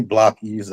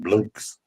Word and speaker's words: blockies: It's actually really blockies. I heard somebody call it blokes. Blokes or blokies. Blokies. Yeah, it's really blockies.